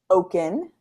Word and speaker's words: Okun: How do you say your last name? Okun. Okay, just as I predicted.